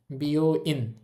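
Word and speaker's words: 病院: আছে বি ও বি দেখেন ও আছে এজন্য উটটা আর উচ্চারিত হবে না।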